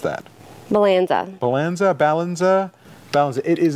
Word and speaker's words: Balanzza: So, getting back to the product 2 minutes into the show, this is called the Balanzza. Balanzza? How do you pronounce that? Balanzza.